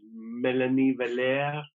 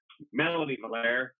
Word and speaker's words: Mélanie Valère: Her name is Mélanie Valère, or Mélanie Valère, as we say in English.